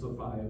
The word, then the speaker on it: Sophia: to this woman Sophia Sophia would have probably been pronounced Sopia by them at the time in England but Sophia the eleress of Hanover.